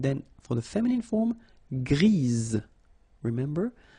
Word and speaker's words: grise: for the feminine form, grise. Remember? Grise. Alright? So when you add this E, basically it gives you the pronunciation or the possibility to pronounce the previous letter here. It's Z, grise.